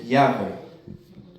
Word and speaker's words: Yahweh: And when they started to pronounce it, they pronounced it Yahweh.